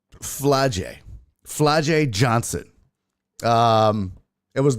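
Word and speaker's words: Flau'jae: a hard ass name f l a u j a e fly J fly J oh okay fly J fly Johnson um it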